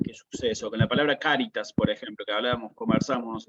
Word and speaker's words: cáritas: variación esta no la misma palabra en latín con acento en la primera en la primera sílaba cáritas cuando pase eso